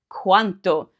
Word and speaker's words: quanto: Now earlier I mentioned that the pronunciation of quando is important because if you don't pronounce that D, you could say this word, quanto.